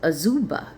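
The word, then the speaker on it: Azubah: His mother's name was Auba.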